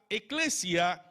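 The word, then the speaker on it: ἐκκλησία: la iglesia la iglesia en griego se pronuncia eclesia que significa asamblea esta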